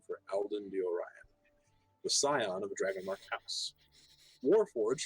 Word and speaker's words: Scion: Scions? What? Or S-C-I-O-N. S-C-I-O-N. Is that pronounced Scion or Scion? I would say Scion.